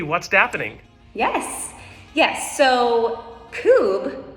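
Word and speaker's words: Coub: happening yes yes so kube which is spelled c-o-u-b pronounced coop so this company actually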